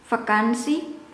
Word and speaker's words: vakantie: of, I will, or I might pronounce it as more into F, vakantie, but it should be and this one is tsi, vakantie, vakantie, tsi.